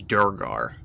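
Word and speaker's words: duergar: say it how do you how do you pronounce it brendan uh i believe it is durgar durgar okay these kind of deep dwarves they're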